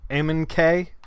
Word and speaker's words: Oeming: uh he's he's awesome pronounced pronounced ammon k i think that's that's how we we're pronouncing it he has he has